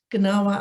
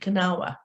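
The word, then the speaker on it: Gnawa: the uh her book gennawa identity through music and visual culture is that the right pronunciation do you pronounce the g kanawa yeah so cynthia welcome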